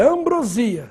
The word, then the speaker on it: ambrosia: e ambrosia Cuidado hein Se você está falando aquele doce gostoso é ambrosia sem assento agora a dona Ambrósia só se for um nome próprio Essa gosta de fazer ambrosia ambrosia não tem acento agora cuidado estratégia Ou